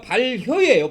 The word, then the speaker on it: 발효: 이렇게 나오는데 이게 교자가 발효의 발효 그러면 이해됐고 발효 그래서이 효를 교로 발음하지 말고 효로 발음하는게 더 좋습니다 그래서 이거는 무교절 해도